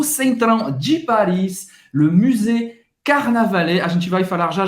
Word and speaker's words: Carnavalet: Tem esse R de novo, Carnavalet. E-T em francês, no final da palavra tem um som de E. Carnavalet.